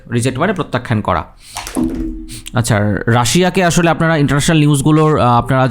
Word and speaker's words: Russia: আচ্ছা, রাশিয়াকে আসলে আপনারা ইন্টারন্যাশনাল নিউজগুলোর আপনারা যারা পড়ে পাঠক সেগুলো পড়লে আপনারা দেখবেন রাশিয়াকে আসলে রাশিয়া বলে না, বলে রাশিয়ান ফেডারেশন। হ্যাঁ, রাশিয়ান ফেডারেশন বলে, উচ্চারণটা হচ্ছে রাশা, ইংলিশ উচ্চারণ।